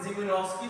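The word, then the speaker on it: Szymanowski: Conrad Jubinowski इसमें S silent है, कोनॉट जिमिनोव्स्की procedure is perform, ये भी आपको वीडियोस के बगैर समझ नहीं है, ठीक है।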